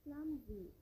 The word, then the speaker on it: clumsy: clumsy S வந்து இசட்டா pronounce பண்ணப்படணும்.